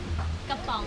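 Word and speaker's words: กระป๋อง: Kapong.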